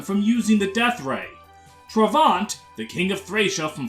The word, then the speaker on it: Travant: all I've got is trevant which doesn't even work because his name is pronounced travant so uh uh I've